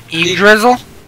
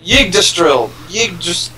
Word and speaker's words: Yggdrasil: I don't know how to say it. Yggdrizzle? No. It's Yggdrasil.